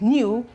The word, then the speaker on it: knew: the G's for instance if I remove K from this this is new new this is pronounced as new with the K it is new without the care it